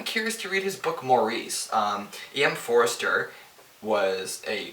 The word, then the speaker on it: Maurice: about a gay relationship it's called maurice i've heard people pronounce it morris like if i enjoy